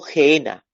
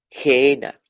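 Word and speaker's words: gehenna: el infierno ahí la palabra infierno en el griego es gena se escribe G doble e doble n y ajena gena ojena como pudieran decir esta este vocablo griego Gera en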